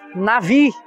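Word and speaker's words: נביא: pro antes PM falar a palavra Hebraica mais usada para profeta é na Ri Nabi pronuncia-se nave e aparece 309 vezes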